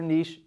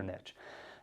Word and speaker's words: niche: of my favorites is niching down or niching down I don't care how you say it either Niche or either Niche anyway Now's the Time